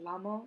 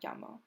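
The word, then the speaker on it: llamo: respond with me amo it's not lamas or lamo it's yamas and yamo because the two l's next to each other make the y sound so if someone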